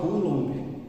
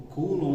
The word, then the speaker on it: Coulomb: completo dele né então como é que a gente lê em francês tem um site de